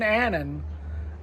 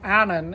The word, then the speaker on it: Annan: So, if you're ever in Anen, uh, Anan, as they pronounce it here, you got to come here to Cafe Royal and try the fish and chips.